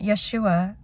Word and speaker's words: Yeshua: it in greek but yeshua i've i've meditated on this so many times christ's name yah shuah is um yah yah is like ja like uh ja help